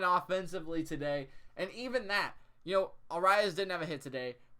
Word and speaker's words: Arraez: Luis Arraez. That's how you say his name. Arraez.